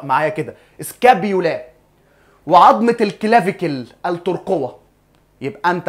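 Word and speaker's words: scapula: الاسكابيولا اللي هي عضمه لوح الكتف اسمها ايه انطق معايا كده سكابولا وعضمه الكلاك التركوه يبقى انت عندك سكابولا عضمه لوح الكتف وعندك كلافيكل التركوه الاتنين دول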